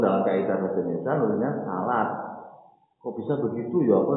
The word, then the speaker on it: salat: Nulisnya salat S-A-L-A-T. Tapi kalau orang Islam sudah pernah itu muncul jangan salat ya. Napa? Salat. Walaupun dalam kaidah bahasa Indonesia nulisnya salat.